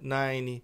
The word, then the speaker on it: nine: nine e name. Não tem esse som de e. O som morre aqui no N.